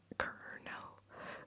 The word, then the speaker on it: colonel: Colonel. The first one is the one that's spelled normally.